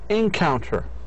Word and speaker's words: encounter: لاحظوا إذا كان ال final syllable هو الضعيف, if the both if the last syllable, هذا هو last syllable, إذا المقطع الأخير is weak, stress will be on the preceding syllable, حيكون على المقطع اللي قبليه, preceding معناها السابق.